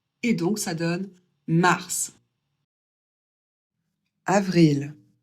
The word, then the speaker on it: avril: avril, Ici, c'est facile. Tout se prononce comme c'est écrit.